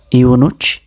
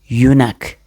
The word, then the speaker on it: eunuch: Iunuch. Iunuch. You're completely wrong. Okay, don't pronounce it like that. So how do you pronounce it correctly? Here we go. Eunuch.